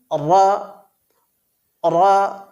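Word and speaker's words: ر: মাখরাজটা ঠিক এইরকম হবে জিহবার কিনারা এবং তার বরাবর উপরের তালুর সাথে লাগিয়ে অর্থাৎ নুনের মাখরাজের কাছাকাছি লাগিয়ে র বর্ণটি উচ্চারিত হয় প্রিয় বন্ধুরা র বর্ণটি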